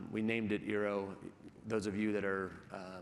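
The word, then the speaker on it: IRO: called, we named it Eero. Those of you that are wordsmiths in the room realize that's Ori spelled backwards. But we liked the Eero phraseology because it rhymes with hero, and we're supporting the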